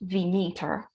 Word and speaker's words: Demeter: uh the goddess demeter i'm told that in proper greek it's pronounced the meter but i haven't got the flow of that so tonight i'll just stick with demeter so she's the daughter